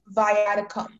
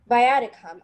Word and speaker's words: viaticum: viaticum.